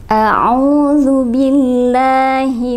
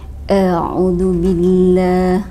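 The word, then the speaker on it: أعوذ بالله: a'udzubillahi minasy syaithanir rajim kesalahan umum yang terjadi ketika membaca taawudz adalah yang pertama di sini ada huruf Hamzah Hamzah itu dibacanya tidak jelas jadi bukan a mulut nya tidak dibuka ya Misalnya mungkin diantara sahabat Quran pernah ada yang mendengar orang yang wajah al-qurannya seperti ini eh Audzubillah seperti itu ya Nah ketika ada pelafalan a maka itu berarti tidak jelas berarti ini adalah tidak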